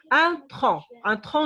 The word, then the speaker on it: tronc: On a un tronc de l'arbre, le tronc de l'arbre. باش غنعرف انا شنو كاين à la fin puisque c'est muet, on ne prononce pas.